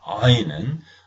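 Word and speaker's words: עין: 하는 모험이고 그다음에 아인이 아인은 많은 사람들이 발음을 못 합니다 그래서 무음 처리해서 알 이렇게 모음만 발음해도 별 이상은 없습니다 마치 우리 말에 우리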